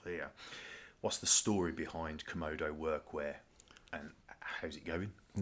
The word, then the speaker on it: Comodo: I I say komodo just probably because of my accent.